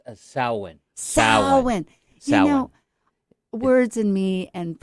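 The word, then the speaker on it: Samhain: how to say that word sam it's a sowwin words in me and pronunciation is right from my beginning okay and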